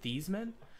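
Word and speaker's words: Theismann: he him being interviewed I think it's actually pronounced thesman but everyone says thyman so he just goes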